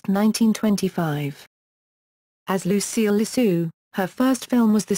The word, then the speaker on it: LeSueur: MGM publicity head Pete Smith recognized her ability but felt that her name sounded fake. He told studio head Louis B. Mayer that it sounded like LeSueur.